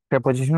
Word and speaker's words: preposition: হচ্ছে কিসের জন্য যেন প্রেপজিশনের জন্য ছোটবেলায় আমি এটারে প্রিপজিশন বলতাম এখন প্রেপজিশন বলি কারণ হচ্ছে প্রেপজিশন is more correct প্রোনাউন্সিয়েশন ওকে তো এখন প্রেপজিশন